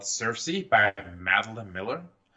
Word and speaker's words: Circe: Circe. It's called Circe. Is it Circe spelled like Cersei in Game of Thrones, or?